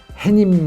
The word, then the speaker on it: 해님: 들어갈 수 없단 말이에요 그래서 이제 이거는 해님 으로 발음 해야되고 적을 때도 해님 이라고 적어 줘야 돼요 자 여기까지가 이제 두번째